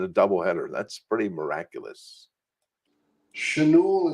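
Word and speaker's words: Schanuel: Chanul is how you pronounce it properly.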